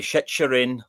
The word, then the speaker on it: Chicherin: Chicherin? Either Chicherin or maybe Chicherin. Yeah, Chicherin. Yeah. It's one of those weird sounds because it's obviously got a silent T, so it's got like a noise as well.